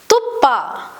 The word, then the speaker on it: ತುಪ್ಪ: Pa is pronounced as pa, as in tuppa. Tuppa, which means ghee.